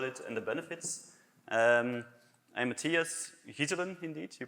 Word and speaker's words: Matthias Ghyselen: I'm Matthias Ghyselen, indeed. You pronounce it right, thanks.